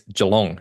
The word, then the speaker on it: Geelong: going to go visit Geelong just outside of Melbourne. It's a habit of mine to see a word like that and assume it's French and have to pronounce it in a French way.